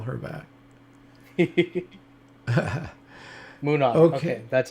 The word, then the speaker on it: Munnar: Munnar. Okay, that's how you say it. Munnar.